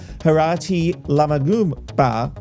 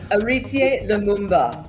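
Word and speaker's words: Héritier Lumumba: the comment in question came after fellow co-host walid ali interviewed former collingwood magpies player harati la magum ba anch how do you say that name oh dear auritier lumumba thank you i knew you'd know it because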